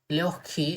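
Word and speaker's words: лёгкий: එතකොට මෙතන k දෙකක් විදිහට තමයි pronounce වෙන්නේ. ඒ නිසා අපි කියන ලියොක්කි. ලියොක්කි එහෙම තමයි pronounce වෙන්නේ.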